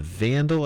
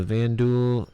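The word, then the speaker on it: Vanduul: The Vandal attack Bolo. So the VanDuel, sorry, the Vanuel, not the Vandal. It's easy for me to say that, but actually pronounce it Van Duel.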